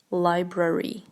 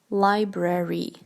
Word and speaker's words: library: shopping for jewelry um library library pay attention to how specific the r is here library library library you go